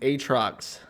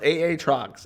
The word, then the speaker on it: Aatrox: how it's fucking written if they didn't want it to be pronounced aatrox it wouldn't have two fucking a's in it it would just be a or a y instead it's aa trucks and i don't give